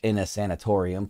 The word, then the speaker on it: Innasanatorium: in a sanitarium sanatorium I think I said that correct in a in a sanatorium is how you pronounce it this one's called this